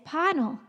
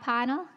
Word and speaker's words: Panel: I've said it wrong three shows in a row, and he did me a favor. He said it's Panel. Hi, Bob Panel.